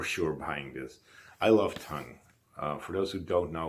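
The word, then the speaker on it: Tunng: It's the new Tongue album. That's how you pronounce it, T-U-N-N-G.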